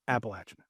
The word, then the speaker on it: Appalachian: It's Appalachin.